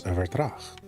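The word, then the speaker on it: Vertraag: Eternity's End is Vertrag? Or if you want to pronounce it the correct way, the Dutch way, I have to assume that it's based on is Vertrag.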